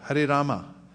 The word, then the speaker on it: Rama: chant ram or rama rama both are okay rama ram is ram is not okay rama 16 words 32 syllables it's mathematical keep it symmetrical 16 words 32 syllables